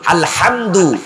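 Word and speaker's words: الحمد: আজকে মুফাসসিরে কোরআন হইছে যেই হাটা আমরা ঠিক কন্ঠনালী শক্ত করে উচ্চারণ করি আলহামদু এটার অর্থ হলো প্রশংসা আর যদি আপনি এখানে হাটাকে শক্ত করে না বলে হায় হাওয়াজ বলেন অর্থ পুরা উল্টে যাবে অর্থ হলো ব্যর্থতা আলহামদুলিল্লাহি রাব্বিল আলামিন সকল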